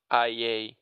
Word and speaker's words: IA: So, future Luis, remember to post the Liafeed IA. Yeah, it's pronounced Ia for some reason.